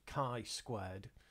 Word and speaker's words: chi-squared: It's pronounced chi-squared. In English you would spell it as chi, but it's actually the Greek letter chi, which looks like a big X.